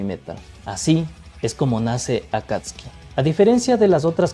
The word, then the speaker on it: Akatsuki: Akatski sin pronunciar la U. Vale, de acuerdo. Venga, pues será la pronunciación correcta, digo yo. Vamos a continuar. Aunque hoy en Occidente la conocemos simplemente como Akatski, durante varios años antes